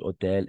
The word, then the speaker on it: hôtel: oui ce nouvel nouvel hôtel n'est-ce pas hôtel qui commence par une h muet n'est-ce pas h mué hôtel ce nouvel hôtel très